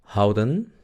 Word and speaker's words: houden: Luego tenemos houden. El sonido de la H no se olviden.